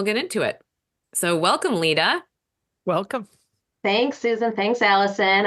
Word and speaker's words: Lida: Her name is Lida Bunting, Lida with a D, Lida.